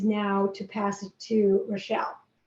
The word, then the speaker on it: Rochel: My name is Rochel, not Rochelle.